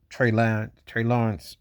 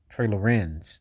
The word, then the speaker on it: Trey Lorenz: I seen uh, Trey Lawrence on Trey Lorenz. Let me say it correctly.